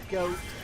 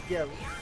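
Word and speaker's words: Goht: I mean, it makes sense, but I've never thought of it as goat. Because G-O-H-T. And I guess that is goat. O-H is O. But, I don't know. I've always thought it was got.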